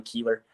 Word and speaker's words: Kuehler: Funny because his is spelled the same as mine with a B, but it's said completely different. He's Buehler, I'm Keeler.